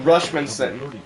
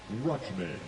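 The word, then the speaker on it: Rutschman: Now, Adley Rushmanson. Adley Rushman. Rushman. Rushman. Okay, I couldn't remember how to pronounce his last name.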